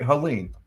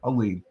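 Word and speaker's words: Helene: hey how do you how do you pronounce that hurricane that hit two weeks ago Halen yeah okay so I'm saying it right Halen that's what they're saying Halen okay you're right h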